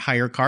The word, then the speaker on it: HyreCar: need to learn about hire car and I'll spell that for you listeners hy r e CA r yes like any good tech